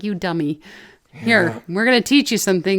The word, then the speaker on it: Udemy: udemy udaimi i don't i think it's like academy but for you you you to me but it sounds like you dummy here we're going to